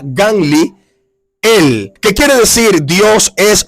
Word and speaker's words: Gamaliel: El significado de Gamaliel en hebreo se pronuncia Ganli, él, que quiere decir Dios es mi recompensa o recompensa de Dios.